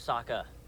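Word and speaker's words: Sokka: going to hurt you my name's Saka rhymes with a W and waka waka Muppets exist in this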